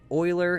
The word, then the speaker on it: Euler: was Euler okay it looks like Euler but Euler is how you pronounce that I believe it's German I would